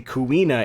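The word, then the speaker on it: Quina: This character's name is unambiguously kuina in Japanese. But in English, Kina kina, there are no rules when pronouncing proper nouns.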